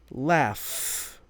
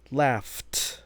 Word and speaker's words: laugh: Next up would be laugh becomes left. Laugh. Laugh. Now notice there the spelling is not an F at the end. It's a gh, but it's the pronunciation of that last sound that indicates what the